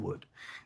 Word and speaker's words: would: They're graphing meaning correspondence because you don't pronounce the L in wood.